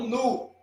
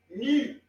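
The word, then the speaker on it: νι: Temos mi, não nu, ni.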